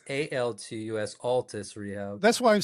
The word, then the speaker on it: Altus: So it's ALTUS, Altus Rehab. That's why I'm saying it wrong. I've got it written down wrong. It's okay. A lot of people do. And then so it's ALTUS. Yes.